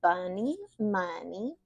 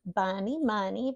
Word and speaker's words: Buni Muni: name is but my music handle is bunny money uh I chose the name bunny money because it's cute it Rhymes it silly that's the